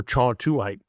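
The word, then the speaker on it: kyawthuite: It's pronounced, it's spelled with a K, but pronounced cha or chawtuite.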